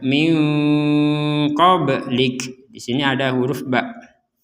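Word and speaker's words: مِنْ قَبْلِكَ: Ini juga sama, nun sukun bertemu dengan huruf qaf, ini juga samar minko. Jadi jangan langsung dibaca minko atau dibaca jelas minko. Jadi dibacanya min qablik.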